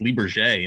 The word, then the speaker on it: Lybarger: It was then so one of your friends on Facebook said, "Oh no, it's pronounced Lybarger," and then I'm like, "Oh, I've really screwed that one up."